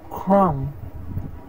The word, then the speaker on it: crumb: methodology all right now let's see where to not pronounce the b in English that debt crime climb comb comb tune thumb thumb doubt doubt crumb crumb all right guys